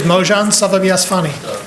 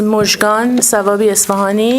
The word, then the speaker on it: Mojgan Savabi Esfahani: Our next speaker is Mojan Savabiasfani. Hello, Ann Arbor. My name is Mojgan Savabi Esfahani, and I want to thank the mayor for finally pronouncing my name halfway correctly.